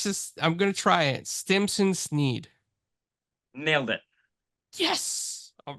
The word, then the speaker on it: Stimson Snead: Community but we and if I say your name wrong I'm just bad with names but let's just I'm gonna try it Stimson Sneed nailed it yes all right well welcome to